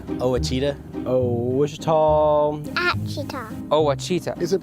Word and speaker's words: Ouachita: I've heard people say, Ouachita. Wichita. Achita. Ouachita. Is it pronounced Ouachita? Searching for Ouachita Baptist University. Back in Texas, everybody pronounces it Wichita, but really, it's Ouachita. Ouachita.